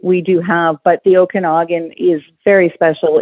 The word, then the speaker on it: Okanagan: speaking of golf so your destination is the Okanagan Valley did I pronounce that correctly yes you did oh I